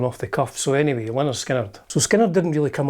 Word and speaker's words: Lynyrd Skynyrd: Pronounced Lynyrd Skynyrd.